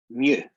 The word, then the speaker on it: mu: be looking at is called the greek letter mu that's how you pronounce it what does the greek